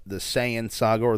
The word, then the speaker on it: Saiyan: to the s the saiyan saga or the saiyan saga is the correct way to say the science